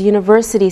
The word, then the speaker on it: university: We say a university because university sounds like a Y sound.